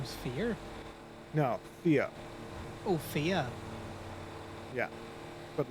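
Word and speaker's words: Fiadh: Um I believe her name is Fear. Not to be confused with the person from Twin. You said her name is Fear. No, Thea. Oh, Fia.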